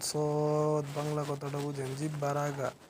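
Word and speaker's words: صاد: তারপরে আছে আপনার সদ। জিহ্বার আগা, সামনের নিচের দুই দাঁতের পেট ও আগার সঙ্গে লাগাইয়া একটি হরফ উচ্চারিত হয়, যেমন সদ।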